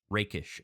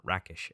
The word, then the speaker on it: rakish: character's initiative role and that might actually be pronounced rakish audacity not rackish audacity so i apologize for